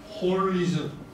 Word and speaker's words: holism: 이때 전체론은 전체주의도 아니고 그래서 보통 영어로 홀리즘, 홀리즘, 홀리즘, 홀. 영어로 전체 원래 WHOLISM, W가 묵음이니까 빼고 ISM 붙이는 홀리즘.